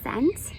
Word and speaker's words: cent: We know the soft C sounds like an S. Sound it out. Get ready. And yes, cent.